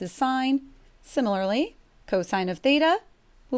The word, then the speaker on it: sine: we spell these things a lot of people like to call that sin cos cos whatever i traditionally will pronounce it correctly sine this one is cosine